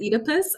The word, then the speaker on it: Oedipus: Like, I'm curious about the Oedipus one.